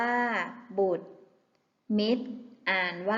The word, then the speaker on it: บุตร: เกษตร อ่าน ว่า กเษตร บุตร อ่าน ว่า บุตร มิตร อ่าน ว่า มิตร